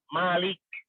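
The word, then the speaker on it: ملك: pada Hari pembalasan Nah kalau yang merajai Malik itu ya minnya itu panjang dibacanya Malik ya begitu tapi kalau saja ya bukan yang merajai itu adalah Malik ya jangan dipanjangkan contohnya misalnya ada di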